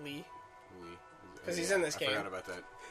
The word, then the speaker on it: Lea: Lee. Lee. 'Cause he's in this I game. forgot about that. Axel's in this game. Yeah, Josh, it's not Leah, it's spelled- Lee. Princess spelled Leia. L-E-A.